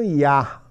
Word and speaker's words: you: você observará a pronúncia, muitos pronunciam ya, ok? How are ya? Muitas vezes vocês encontrarão essa pronúncia. Então, não estranhe a parecer o you que você conheceu ao longo da sua vida inteira como you, sendo pronunciado como ya.